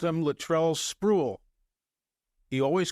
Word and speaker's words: Sprewell: My mistake was not checking with Latrell to double-check the pronunciation. But I said to myself, well, if the head coach calls him Sprewell and the guy who recruited him calls him Sprewell, his name is Sprewell.